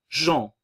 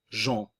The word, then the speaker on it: Jean: Jean. Nous avons ici la nasale. Le A nasal en. Jean.